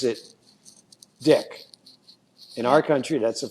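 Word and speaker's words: Dyck: name last name Dy c k but he pronounces it dick in our country that's a funny thing and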